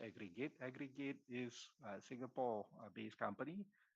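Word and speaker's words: AgriG8: a service agree git so agree G8 is pronounced aggregate aggregate is Singapore based company that provides a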